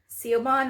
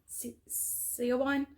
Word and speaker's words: Siobhan: And then there's a foreword in the book where another author, Siobhan, I think is how you say her name, Siobhan, maybe, Dowd.